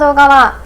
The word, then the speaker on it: ULTRA: My dad insists that it's pronounced as "Ultra" and I think that's because the agency staff say it that way. However, if I search it on the internet, some websites say it's "Altra", and also in the